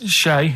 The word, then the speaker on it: Che: Shay is like shake and his his surname is like guitar, right?